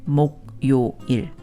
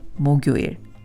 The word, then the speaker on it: 목요일: If you only looked at the Hangul, you would be tempted to say 목요일, when in fact, natives pronounce it 목요일.